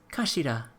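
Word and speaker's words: 頭: It's written as head in Japanese, but it's pronounced as kashira, I believe.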